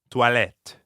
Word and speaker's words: toilettes: There's an S at the end of the word for bathrooms, even though you don't pronounce it. Toilette.